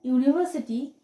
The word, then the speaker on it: university: sounds as w then a university because the un university sounds like y double o and a